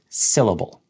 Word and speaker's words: syllable: So we want to emphasize the correct syllable within the word. Syllable. If you were to say syllable, it's technically the same word, but your emphasis is going to confuse the listener.